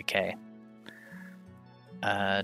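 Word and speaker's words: ク: is tilted not straight this is ku or ku it's a consonant followed by a vowel and makes up a single syllable you pronounce this as q liking the word cool i think the the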